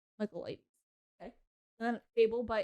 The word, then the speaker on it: Michaelides: Michaelides. Michaelides.